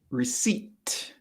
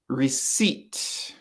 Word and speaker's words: receipt: is your receipt and the p the p at the end is silent so that's a silent p i think that's the